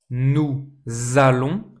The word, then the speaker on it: nous allons: Nous allons. please pay attention as always to the liaison here nous allons Same liaison here.